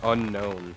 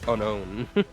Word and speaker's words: Unown: Like how unknown actually doesn't have an N, so it's unown. I think it's supposed to be more like unknown. Like, but like, yeah. Yeah, but it's still not unknown. It's unown.